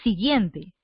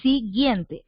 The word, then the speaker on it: siguiente: la u en siguiente tú no pronuncias la utu dices siguiente tú dices siguiente obviamente se pone lado